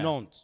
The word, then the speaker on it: Nantes: Wait, you do pronounce the T because before the E. So you say Nantes.